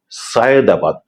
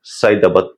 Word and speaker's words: সায়েদাবাদ: একটি শব্দ হচ্ছে সায়েদাবাদ। ঢাকার একটি প্রসিদ্ধ জায়গা। কিন্তু আমরা উচ্চারণ করি অবলীলায় উচ্চারণ করে ফেলি সাইদাবাদ সাইদাবাদ যাচ্ছি এমন করে তাতে করে আমাদের